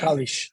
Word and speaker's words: Kalish: co-led with near near is it kalish kalish how am I pronouncing your name kalish yes kalish all right so near